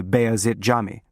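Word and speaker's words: Beyazıt Camii: You know, by Bea Jami. You pronounce it correctly. The C is tricky for foreigners.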